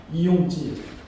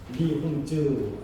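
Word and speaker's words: 李洪志: 화륜궁의 창시자 이용지, 리홍즈 이렇게 이제 중국 발음하는데 바로 이런 걸 만들어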